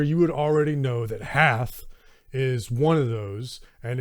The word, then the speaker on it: Hoth: been mispronouncing half wrong it's not hoth it's half i'll get to that